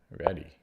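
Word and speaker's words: Réti: See, I pronounce it Reti because there's a accent U on top of the E, but other people say Reddy, Richard Reddy. Now, I could go either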